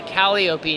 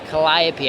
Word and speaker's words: Calliope: think is interesting about, I always want to say it wrong. Calliope. Calliope. I want to say Calliope now, but it's Calliope. I've got it now. I got it. That's like the European way.